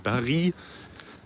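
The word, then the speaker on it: Barye: So, Square Barry. Pronounced Barry.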